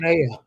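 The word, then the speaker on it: Manaea: Manaya.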